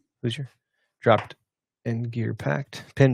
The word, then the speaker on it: Hoosier: Hoosier? Hoosier.